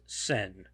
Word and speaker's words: Sen: nice touch in there leaving Chihiro with one part of one character of her original two character name in isolation pronounced Sen uh taking a person's